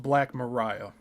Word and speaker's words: Black Maria: known as the, quote, Black Maria, end quote. And it says it's pronounced Black Mariah.